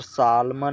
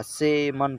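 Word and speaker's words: salmon: होगा सेम यहां पर सालमन नहीं पढ़ा जाएगा से मन पढ़ा जाएगा क्योंकि यहां पर भैया हमसे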